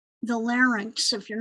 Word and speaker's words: larynx: those words i i i think of sphinx when i say it and add that with it and then i say then i say it right pharynx and larynx the trachea the bronchi